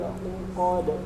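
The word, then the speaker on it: العقد: Wa min syarri naffatsati fil 'uqad. Lagi boleh. Kemudian catatan, hati-hati dengan huruf ini, bukan uqad tapi hurufnya ain. Au.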